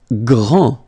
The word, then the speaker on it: grand: Grand, final day not pronounced, okay? Gr, and then the nasal en, grand, okay?